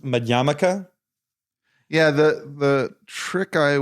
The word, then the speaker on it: Madhyamaka: poly words is that the stress is always on the second to last syllable M mik right Mika